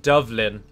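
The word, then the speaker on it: Dubhlinn: Owing to my recent visit to Dublin, where it's named after something called a black pool, which is written D-U-B-H-L-I-N-N. And it's pronounced Dovlin, but it's been anglicised to Dublin.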